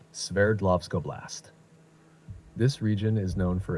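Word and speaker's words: Sverdlovsk Oblast: oist that's the one name might sound tricky but it's pronounced like this s lovco blast this region is known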